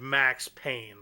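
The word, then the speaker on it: Payne: Um, it's spelled P A Y N E, but um, you know, whatever. P A Y N E for pain or pain, whatever you want to say.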